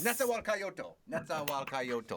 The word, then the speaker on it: Nezahualcóyotl: Nezahualcóyotl. Nezahualcóyotl. Yes. Nezahualcóyotl. Okay, 6 syllables. That's what I remember.